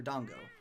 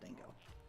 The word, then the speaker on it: Dango: Dango Fighter and Dango or Dongo, not Dango. It does not rhyme with mango.